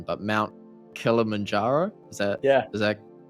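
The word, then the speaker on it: Kilimanjaro: went and hiked I'm going to butcher this pronunciation but Mount kilamanjaro is that yeah is that is that correct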